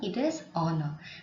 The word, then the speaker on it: honor: The H in honor is silent. So you should not read it as honor, it is honor.